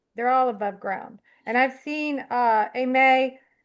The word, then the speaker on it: Amay: It's a French Creole name. It's yeah, my great grandfather was Ami with one E, and then it's Aimee with an agu. So I always spell it Amay because that's how it's pronounced.